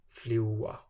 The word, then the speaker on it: fljúga: And finally, it's dropped altogether when it comes between á o u and a o u. Pláa, plógur, fljúga.